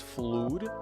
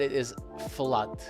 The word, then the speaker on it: flood: Many people pronounce it as fluid. It looks like that because of the double O, but it is flood.